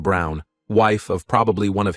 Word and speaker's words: Braun: of the historical figure Eva Braun pronounced Brown wife of probably one